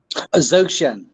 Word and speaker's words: Dzogchen: He had become a serious yet self-taught student of Eastern philosophy, particularly Zen and how do you pronounce this, Marc? Dzogchen.